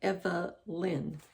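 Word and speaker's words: Evelynn: does turn one and her name is spelled differently it's it's evelyn but it's e v e l y n n you know so it's kind of like it's like eva lynn there's a family name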